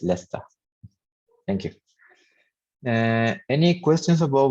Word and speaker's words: Leicester: places there cathedral leicester it's a kind of a strange pronunciation but it's leicester thank you any questions